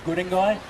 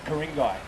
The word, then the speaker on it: Guringai: Guringai, over that way. Karingai. We don't have K's in our language.